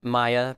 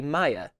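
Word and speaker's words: Maja: about norse pronunciations um they pronounce j's as ya sounds so if you see a j in something it's a ya sound so this would be maya or maya uh bretta guard protector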